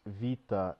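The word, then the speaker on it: βήτα: part uh once again it's not beta it's Vita and pronounces V so it's no okay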